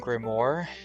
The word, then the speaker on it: grimoire: Uh I was hoping for an arcane grimoire grimoire grimmy grimmy grimmy I don't know how to say it. Grimoire yes. Uh I turned British for that.